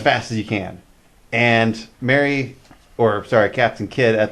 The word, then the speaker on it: Mary: It's Mary. It looks like Marie.